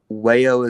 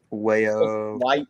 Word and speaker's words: Wajoo: Wayo. Wahoo? Wahoo? How do you pronounce it? Is it Wahoo? Wayo. Wajo or something? It's spelled like WAJOO.